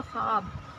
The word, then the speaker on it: ख्वाब: इस तरह लिखते हैं, लेकिन यहाँ बहुत लोग ऐसे इसको गलत मतलब प्रोनाउंस भी करते हैं इसका उच्चारण, जैसे कि ख्वाब, ख्वाब, वाव आपको नहीं पढ़ना है, इसको ख्वाब, है ना।